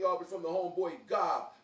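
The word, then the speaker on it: Gab: is from the homeboy Gob, G-A-B, but pronounced G-O-B.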